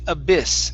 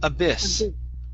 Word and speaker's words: abyss: Okay, this word here is pronounced abyss. Give me a short I sound. Abyss.